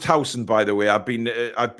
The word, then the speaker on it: Huijsen: And it is pronounced Huijsen, by the way. I've been educated. I think it's Huijsen. It's Huijsen.